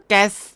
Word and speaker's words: แก๊ส: ทุก คน ผล แก๊ส แก๊ส ออก เสียง ให้ ถูก นะ แก๊ส มี ตัว S ตัว S นำ หลัง แก๊ส แก๊ส แก๊ส เรา